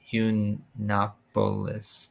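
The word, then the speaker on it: Yiannopoulos: Uh, his last name is pronounced Yunopolis. Yunopoulos.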